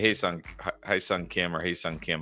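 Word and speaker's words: Hyeseong Kim: Now that KS Kim is actually Haesung Kim, how you pronounce it, from the Dodgers.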